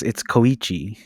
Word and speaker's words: Koichi: well, you're not saying his first name any better. It's Koichi. Koichi.